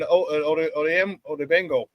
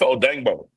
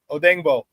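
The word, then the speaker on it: Odeyingbo: like Austin Booker and Odeno. Yeah, pardon me. I know I butchered his name because it's Odango. Odango.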